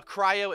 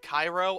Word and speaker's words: cryo: hunt down this uh cryo Abyss Mage which I know I pronounce it Cairo I don't know why I pronounce it Cairo and not cryo but I think it